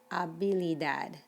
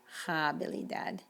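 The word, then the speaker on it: habilidad: hotel and this word means ability and it's abili dad not habili dad la alambra words that have an age in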